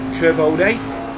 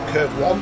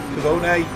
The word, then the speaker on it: Curvone: The first kink is called Curvone, Curve 1 if you want to say it like that. Curvone.